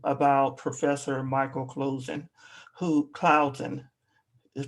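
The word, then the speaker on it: Closen: a quick review about professor michael closing who cloudson is pronounced clouds and professor michael clouds and who is the author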